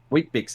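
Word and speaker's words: Weet-Bix: is australian wheat picks not weed out vicks wheat it's not even spelled like we it's w-h-e-e-t b-i-x okay um wheat dicks wheat bix exactly yep um so they're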